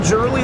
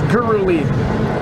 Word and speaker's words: Giruli: And Travis, I'd just like to say, for anybody at home, that is not Giruli, that is Giruli. With a hard G.